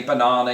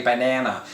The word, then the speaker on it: banana: create such a stir we say banana you say banana you know in my